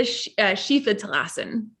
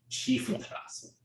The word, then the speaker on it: Schiefe Terrassen: One of the tricks about pronouncing those German things is if you see an I and an E together, you pronounce the second letter. So if it's I-E, then you pronounce E, and if it's E-I, you pronounce I.